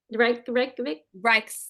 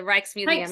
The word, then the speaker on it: Rijksmuseum: Pronouncing it Oh, incorrectly. Reykjavik. The Rijksmuseum.